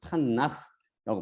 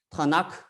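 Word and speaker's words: תנ״ך: 구약 우리들이 말하는 구약을 타나흐라고 발음합니다. 타나흐라는 것은 율법서인 토라 그리고 선지서인 네빔 그다음에 서신서 아니면 시가서라고 그래요. 시가서는 쿠투빔 이것에 머리자를 딴 것이에요. 어떤 사람은 이걸 타나크 또 타나크 이렇게 발음하는데 잘못된 발음입니다.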